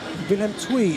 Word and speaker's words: Willem II: Okay, Willem II is the correct pronunciation.